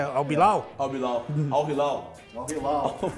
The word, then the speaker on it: Hilal: Não quero voltar pro Bilal aí, né? Ao Bilal? Ao Bilal. Ao Hilal.